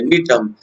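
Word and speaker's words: Gnetum: Cycas, ध्यान से देखिए, साइकस, जिंकगो, ये पाइनस और नीटम, ये जी साइलेंट है, नीटम, ये स्पीसीज एडिबल स्पीसीज होते हैं बच्चों।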